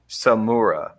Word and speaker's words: Samura: Hiroaki Samura. Hiroaki Samura. Hiroaki. It's like the spelling is right there. It's Hiroaki Samura. Yes. Like tempura, Andrew.